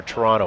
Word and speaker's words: Toronto: uh outside Toronto nice yeah or Toronto as it's supposed to be pronounced um yeah so thanks